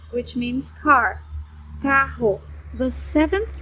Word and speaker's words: carro: But when you have double R, dois R's, double R, you say h, h, as in carro, carro, which means car, carro.